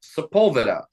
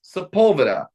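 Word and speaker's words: Sepulveda: a street here in La called seula everyone knows it's saula my wife moved here from San Francisco she's never been to La when when she moved here and then she would say sepeta and everyone would look at her like she was insane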